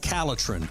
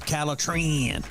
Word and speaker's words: Calitrin: If you want to sleep better and lose weight, then the product that you need is called Calitrin, or you can pronounce it Calitrin.